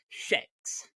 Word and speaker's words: sheks: The Prosian numeral 6 is pronounced sheks.